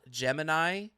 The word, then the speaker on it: Gemini: game but not Jiminy it's spelled Gemini but the way they pronounce it is gemin and it is a